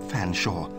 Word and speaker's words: Featherstonehaugh: Fanshawe please accept my sincerest apology very well but